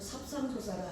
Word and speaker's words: 삽상조사: 그런데 그래서 33분 33이라 하지만 삽상조사라 합니다. 발음을 33을 삽상조사라고 해요.